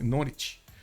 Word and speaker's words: Norwich: it Norwich oh actually not okay you don't pronounce the U the no okay Norwich the City of Norwich you guys gave me